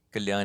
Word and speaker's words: Kalyan: is my name Gan is like you can pronounce it like carry on but with an L but if you know